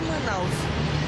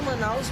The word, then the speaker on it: Manaus: se chamar ainda a cidade de manaos né se escreve se vai for no entanto a pronúncia é Manaus né pronuncia é Manaus mas ficou conhecido assim